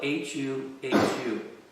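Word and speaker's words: Huhu: He was the king of the Gandharvas, and his name is spelled H-U-H-U. I believe you pronounce it Hu-Hu.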